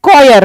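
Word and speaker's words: choir: इसकी प्रोनाउंसिएशन क्या है? कॉयर।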